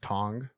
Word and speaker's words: Tongue: to tell you that it's pronounced Tong which is ridiculous um yeah it's insane that you spell it like tongue and you expect it to pronounce a tongue but okay Josh it's